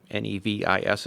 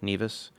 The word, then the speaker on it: Nevis: He was born on the island of Nevis, Nevis it's spelled, Nevis.